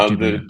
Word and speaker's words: Ghibli: Yeah, Ghibli.